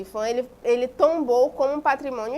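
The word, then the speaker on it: IPHAN: Então, o IFAM, né, pronuncia IFAM, ele tombou como um patrimônio histórico esse sítio arqueológico da Lapa da Cerca Grande.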